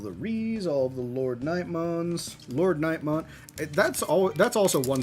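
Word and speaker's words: LordKnightmon: Or as the Japanese pronounce it, Road Nightmon. Which I thought it was Road Nightmon at first. Nope, it's Lord. Lord Nightmon for sure.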